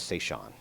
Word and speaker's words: Seishan: And that was Seishan. So I just told you how I pronounce her name.